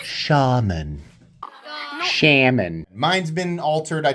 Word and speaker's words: Shaman: It's Shaman.